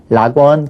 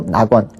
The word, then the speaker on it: 낙원: 마찬가지로 제 1항도 마찬가지죠 리을 오는 거 꺼려 하니깐 라원 그렇게 발음 안 하고 낙원 올 내자 그러니까 레가